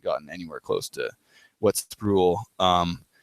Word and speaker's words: Sproul: It's pronounced with an O. Sorry, Sproul. I don't know. It's that U at the end that gets me. It looks like Sproul or something, or Sproul. Sproul. It's Sproul.